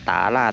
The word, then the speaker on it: ต๋าหลาด: เข้า ไป ใน บริเวณ ตา ราช ไทยยวน นะ ครับ อัน นี้ อ่าน ว่า ตาราช ไทยยวน นะ ครับ ช่าง ป่า ๆ ไม่ ได้ พูด ผิด นะ ครับ ก็ จะ